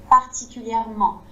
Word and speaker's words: particulièrement: sans prononcer le n, et puis les fins des mots avec le en comme ça, comme particulièrement.